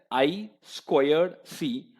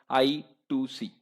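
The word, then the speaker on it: I²C: It is usually pronounced as I squared C, or people also call it I2C.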